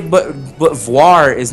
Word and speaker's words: voir: V O I R. Noir. Like like for example, like the word for black. Noir. Wait, wait till my guard. Yeah, Gardavoir. That's why I say Gardevoir because it follows the same principle of noir.